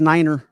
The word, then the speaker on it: niner: I crack up the way Sal says Niner.